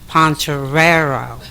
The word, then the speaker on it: Poncherello: to tell you once my last name is pronounced poncherello so mrs. Chino and poncherello right okay nice you know we're saying it the American Way okay I want to